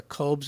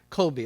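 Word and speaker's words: Kolbe: book this is Kobes am I pronouncing it right Colby oh thank you there's Kobe's it's her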